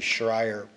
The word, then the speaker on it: Schreier: Michael Cunningham, 1347 44th Street, Des Moines, counsel for, and it's actually Schreier, if I pronounce it, Scheer Development, LLC, rather than Could you spell that for me?